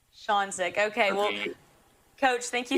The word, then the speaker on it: Ksionzyk: It's pronounced Ksionzyk. Ksionzyk.